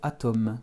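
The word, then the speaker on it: атом: comment écrire le mot atom qui ressemble étrangement aux français c'est un emprunt je fais ma majuscule à je rajoute monter un au suivi du hem et l'accent tombe sur le a atteint richer grâce à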